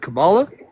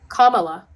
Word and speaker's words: Kamala: Camala. Kamala.